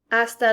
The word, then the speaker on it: hasta: vemos means see you hasta luego which is see you later remember you don't pronounce the h in spanish hasta luego we have